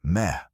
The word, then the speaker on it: me: The me, pronounced approximately as meh.